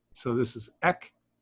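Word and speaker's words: ἐκ: This one is a kappa, which is just simply ek. Ek or eh. X. Yeah, it's EXS is how you would pronounce it.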